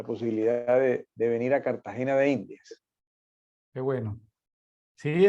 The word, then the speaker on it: Cartagena: la r intermedia entonces un cartagenero típico no dice Cartagena sino Cartagena como si fuera con doble t Cartagena y pronuncia muchas palabras